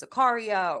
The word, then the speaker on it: Zakaria: is pronounced Zacharia and very often people mispronounce my last name as Zakaria or some variation of that because it has